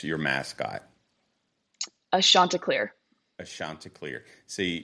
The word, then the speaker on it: Chanticleer: Now, how do you pronounce your mascot? a Chanticleer. A Chanticleer. See, Chanticleer.